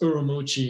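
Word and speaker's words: Ürümqi: in the streets of yurumi pronounced urui in China City of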